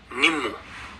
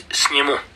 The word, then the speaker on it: Snimo: now people call it Nimmo. Yeah, but actually it's Snimo, But people call it Nimmu because I guess the Indian workers, who painted the road signs, they're just not bothered about our pronunciation.